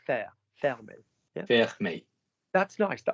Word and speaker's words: fermer: So I'd like you to now acknowledge that FER has the same freaking vowel in the middle. So what's that going to be? Ferme. Fermer.